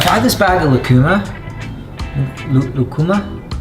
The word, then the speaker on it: lucuma: Lucuma? Yeah, that's how you say it, lucuma.